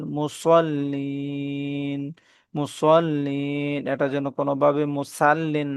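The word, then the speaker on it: مُصَلِّين: ফাওয়াইললিল মুসাল্লিন ফাওয়াইলুল ফাওয়াইললিল ফাওয়াইললিল মুসাল্লিন মুসাল্লিন এটা যেন কোনভাবে মুসাল্লিন না হয়।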